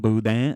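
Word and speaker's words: boudin: buang it's a bang buang it's it's it's spelled b o u d i n but I guess you don't pronounce the n and the I is more of an A so bang bang um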